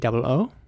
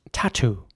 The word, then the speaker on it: tattoo: It's spelled Tattoo, and it's pronounced tattoo in British English.